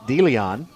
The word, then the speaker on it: De Leon: was gonna say that there's a town in texas and they pronounce it delion now it is christian